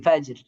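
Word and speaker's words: فجر: তো এটার উচ্চারণ কেমন হবে? আহ, খুস, এই যে এটা কি ফাজের হবে নাকি ফাজর হবে?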